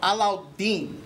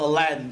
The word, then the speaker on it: Alauddin: So my real name is pronounced Alauddin. But since kindergarten and Disney messed up the name, it's now called Aladdin for all my life.